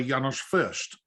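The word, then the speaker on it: János Fürst: I read that you were taught by Janos Furst, if Yes. that's how you pronounce his name.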